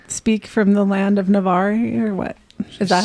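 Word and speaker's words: Navarre: Is that some Are you speaking dragon speak from the land of Navar or what? Is that how you say it? Navar.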